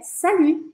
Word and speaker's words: salut: Salut, salut, não é para falar o T, não é salute, é salut, salut.